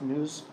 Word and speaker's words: Nous: clever way of saying it's pronounced news, so it sounds like news, but Greek for mind.